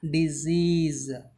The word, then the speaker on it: disease: Here it is not disease, not sa sound, ja sound, disease. Here both the letters should pronounce as ja.